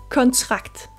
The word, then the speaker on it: kontrakt: Sara og igen ø som øm ansættelse ansættelse kontrakt kontrakt Vi starter med k med luft på